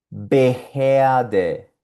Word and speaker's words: Behörde: La O umlaut con R produce el sonido de EA. Y aquí vemos algunas palabritas que tienen esa combinación, empezando por esta. Beherde, Beherde, Beherde.